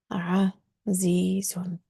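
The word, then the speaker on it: عزيز: So it should be azizun, like this. Azizun.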